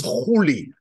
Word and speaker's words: Culi: way it's being pronounced usually in English it's c u l i but I suspect that the right pronunciation back then at the time was holy I would explain later why I think that's there that's the case any anyway I would use Cooley although I do think